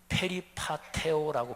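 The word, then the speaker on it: περιπατέω: 근데 행한다는 말이 헬라어로 페리파테오라고 발음하는데 여기 아주 중요한 단어인데요.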